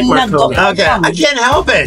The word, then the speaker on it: Binagoong: That's the binagoong pork belly. Can you pronounce it correctly?